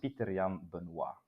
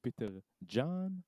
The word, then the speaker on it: Pieterjan: name is french so the correct way to pronounce this is pitarian like also like silent j like with the name a lot of people ask me like is it peter john exactly so it's a